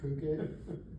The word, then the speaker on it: Phuket: But it's interesting, they do the same thing where they really expand the Phuket, or it's spelled fuck it, but it's pronounced Phuket.